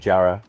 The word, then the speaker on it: Jara: Everybody thinks It sounds very Yoruba, like the tonal, like Jara. Or did we make that? No, Is that how you say it? No, I think they call it Jara, and I think the Yoruba accent just dominated.